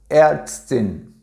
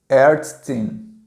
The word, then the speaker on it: Ärztin: E o A tremado se pronuncia um A misturado com E, certo? Um E aberto, tá? E ele se pronuncia E, certo? É A misturado com E, não é nem E e nem A, é E, ok?